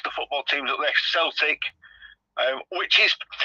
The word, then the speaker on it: Celtic: it um what's the football teams up there Celtic um which is it's pronounced Celtic but it's spelled Celtic and I Glasgow Rangers